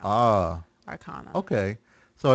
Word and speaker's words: Arcana: And so it's Arcanum, and the plural of that is Arcana, but that's a sound. Ah. Arcana.